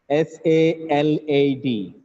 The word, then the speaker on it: salad: a's in its spelling this word has two a's in spinning but they are not pronounced the light they are not it is the pronunciation of this word is not salad colored sir if you give the same sound to both the a's it becomes salad sir blood salad now